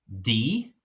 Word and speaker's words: de: And then you have de and dem. De, dem. So they and them. De, dem. If you notice, this one is de, but it's not pronounced de. It's pronounced d, like a long e.